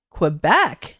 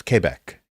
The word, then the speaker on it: Quebec: things with American accents it's Quebec right no it's Quebec Quebec not que joking no I had